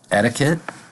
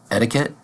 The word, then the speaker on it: etiquette: this of the word in American English we are going to pronounce the first T like a d like etiquette etiquette etiquette etiquette means